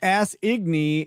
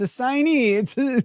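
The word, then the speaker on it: assignee: Eon Dobbs says, patent guy here, it is correctly pronounced ass-igny in IP law. I don't know, man. It's a signee. What are you talking about? Don't do this. Don't gaslight me like that. It's a signee. That's how you pronounce the word.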